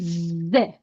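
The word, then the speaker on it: ذ: And if you put one dot above dal, so we have zal. We pronounce it ze.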